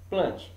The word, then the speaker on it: Plantae: Nós vamos estudar o reino Fungi e o reino Plant, tá bom?